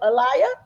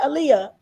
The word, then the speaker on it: Alia: Okay, Alia. Did I say it right? Aaliyah.